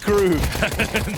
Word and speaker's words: KRÜ: It's pronounced KRÜ.